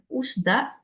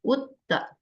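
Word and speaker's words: 웃다: Jadi kenapa tadi bacanya bukan usda tapi jadi udda gitu udda.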